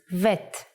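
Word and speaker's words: ב: version is like this if you leave out the dot bet becomes vet the sound of vet is but we don't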